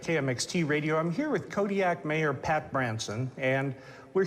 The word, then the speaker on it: Kodiaq: In the Alutiiq language, the Q's are more come from like your throat than a normal K does. How would we pronounce it then? Kodiaq. Kodiaq.